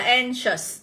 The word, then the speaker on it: anxious: Đó, còn đáp án D thì các em sẽ được đọc là anxious. Anxious. Đó, thì chúng ta sẽ nhận trọng âm vào âm e bẹt này.